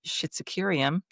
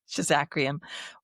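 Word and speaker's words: Schizachyrium: Schizocurium or Shizacrium. Schizacrium or Well, I mean, I've heard it both both ways. ways. Yeah, the way it's spelled, it looks like Schizocurium to me. But I used to say Schizacrium.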